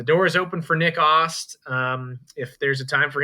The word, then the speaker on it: Ast: It's Ost, Nick Ost. Yeah, weird pronunciation. Looks like Ast, just spelled A-S-T.